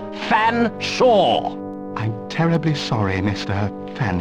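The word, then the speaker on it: Featherstonehaugh: large drink then what ex excuse me Mr Featherstone I presume I can't believe it no can I sir I don't believe you canel pronounce my name properly it's fansa but it it's a talking cater it speaks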